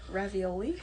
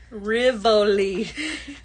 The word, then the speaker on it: Rivoli: Ravioli? Not ravioli. Rivoli.